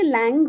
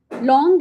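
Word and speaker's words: langue: तो इंग्लिश के हिसाब से लैंग हो गया। लेकिन because it इज़ a French word. लॉन्ग इज a French word for लैंग्वेज और system. So इट is pronounced similar to the word L ओ एन जी।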